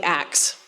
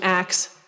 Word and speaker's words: ask: So what's interesting about ask and ask a question is that if you go back in the history of English, they're both old, and from what we can tell, the older form is probably ax, and that the swapping of the sounds was from ax to ask.